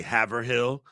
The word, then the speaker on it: Haverhill: you come to Camp the sign is going to say Haverhill but it's Haverhill there's an amazing Tick